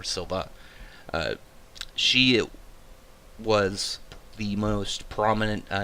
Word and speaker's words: Silva: It's like Ashi Silva, not Silver, Silva.